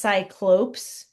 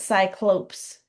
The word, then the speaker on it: Cyclopes: And this word, if you noticed, has a e s and it is pronounced cyclopes.